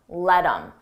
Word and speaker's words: let him: Don't let him, let him. Notice again, I take that H off of him, I drop the sound, and then I'm left with im, but I combine it with the word before.